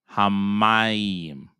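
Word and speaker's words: השמים: the mem, but no, you're only going to double the sound of the mem. So think about it that you have 2-letter mem here, and one is going to go with this syllables, and one is going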